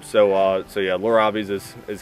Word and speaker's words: Lorob: like is it laurab Lor Rob yeah I mean so so it's a blend of my mom and I's name Lor and Rob so uh so yeah lur robes is is how i'